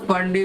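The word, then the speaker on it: Pfund: और अगर बेटा 5th फ्लोर पे अटक गया तो पी साइलेंट होता है तो फंडी बोलते हैं।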